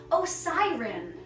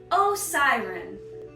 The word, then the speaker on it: Osiren: Up next with another epic in the cursed cult, we have Osiren. Osiren. Oh no, a siren! Cops aren't coming after me. I did nothing wrong. Osiren.